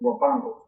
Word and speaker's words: Huapango: The Spanish pronunciation is Huapango.